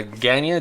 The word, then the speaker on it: Guyana: Uh Guyana, g u y a n a. All right, is my pronunciation so way off?